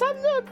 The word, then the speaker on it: Nook: wrong and I was like, "No, no, it's Nook, right?